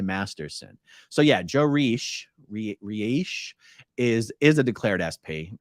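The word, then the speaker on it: Reiche: them their father is Joe rich is how I've always pronounced it it's like r-e-i-c-h-e and he was declared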